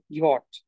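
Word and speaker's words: Jot: তবে এখানে একটু উচ্চারণের বেশ কম আছে, সেটা হচ্ছে, দেখ আমরা ইয়ট বলি ঠিক আছে, বাট এটা যে উচ্চারণটা, হ্যাঁ আমরা যখন উচ্চারণ হচ্ছে অনেকটা ইউজ করি, সেটা হচ্ছে ওয়াই এর মতো হয়ে যায় অনেকটা।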